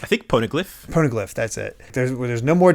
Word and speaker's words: Poneglyph: I don't even know how it's pronounced. I think Poneglyph. Poneglyph, that's it.